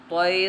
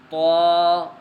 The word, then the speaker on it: ط: لہجے میں ادا کریں، اردو تلفظ سے پرہیز کریں، یعنی بے، تے، سے، حے، خے، طے، غے وغیرہ ہرگز نہ پڑھیں، بلکہ با، تا، سا، حا، خا، طا، ظا پڑھیں۔ اس مثال کو ہم